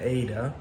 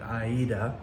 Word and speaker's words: Aida: anything other than an ADA. Um I did find out that uh Ada is named after the opera Aida. Uh so I guess properly speaking we should be pronouncing it Aida.